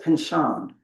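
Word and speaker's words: Pynchon: Interestingly, Pinchan avoided having to retract his statements by going back to, am I saying Pinchin correctly? Pronunciation. Anybody involved in this? Nobody outside my field or cares about this. He says Pinchan.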